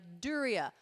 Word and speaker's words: Duryea: And what's great about the show is if I mispronounce it, then John's right there to be like, Duryea, Dan Duryea.